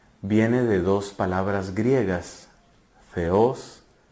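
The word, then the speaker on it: θεός: de dos palabras griegas feos y logos teos logos teos o mejor pronunciado feos significa Dios y logos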